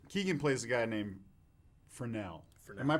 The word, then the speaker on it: Fresnel: Keegan plays a guy named Fresnel. Am I pronouncing that correctly? You are pronouncing it correctly. Fresnel.